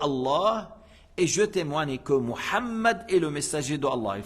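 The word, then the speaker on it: محمد: le nom du Prophète Mohammed c'est pas mehed c'est pas mehed c'est Mohammed et c'est pas Mohammad c'est Mohammed avec le ha s'il n'arrive pas à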